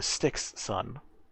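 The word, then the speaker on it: Styxsun: one is called the styx sun which is spelled like river sticks with the word sun attached just just in case don't sound like eston or sun like s-u-n s-o-n the stixxon is a very new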